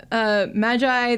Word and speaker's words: Magi: in English you would say Magi. Magi. Yes. But I don't know if there's a difference. In the anime, they pronounce it in Magi. And that makes sense is like, because yeah, that's how just- it's spelled that's just how- yeah. in Romaji.